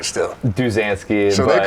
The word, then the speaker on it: Duzansky: So Duzansky, you say your last name because I can't even pronounce it right still. Duzansky.